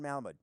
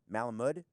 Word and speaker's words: Malamud: a book Bernard Malamud there's an 80% chance I mispronounced the author's name darn it I think it's Bernard Malamud Malamud mood the natural first read